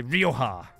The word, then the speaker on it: Rioja: one up Rioja probably I'd say Rioja if you're pronouncing it Spanish Lee although you pronounce it French Lee now then it begat